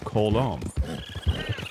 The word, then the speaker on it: Colm: But in truth, and as some Irish accented characters pronounce it, it's closer to Kolong.